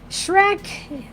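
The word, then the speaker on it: Schreck: myself but that's okay shrek my maiden name is shrek it's not spelled like the movie it smelled s-c-h-r-e-c-k and when he calls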